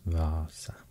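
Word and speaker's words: Vaasa: and here's a vasa in finnish it's spelled with two letter a in the beginning so i guess it should be pronounced vasa that's the only difference with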